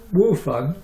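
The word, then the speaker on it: 午饭: Wufan. Wufan actually, there's no W. Ch Wufan. Although it's spelt with a W, it means I eat lunch.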